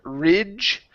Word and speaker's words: ridge: go to the word Ridge okay this is a short I sound instead of re it's i i r ridge ridge good all right so